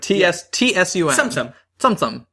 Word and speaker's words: Tsum Tsum: like AUM with a little T before it TS Tsum Tsum gu you can pronounce it whatever I go anyway this game